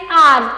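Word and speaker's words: hour: For example N आर। तो यहां पर जो आर है वो एच से शुरू हो रहा है लेकिन एच यहां पर साइलेंट है।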